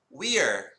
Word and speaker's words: we're: to say it is we're we're it kind of sounds like the word weird only without thee dude we're look right here